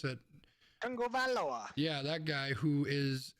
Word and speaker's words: Tagovailoa: whatever his last name is, because I can't pronounce it. Tagovailoa.